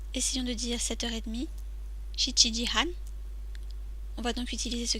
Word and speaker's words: 半: Il se prononce han.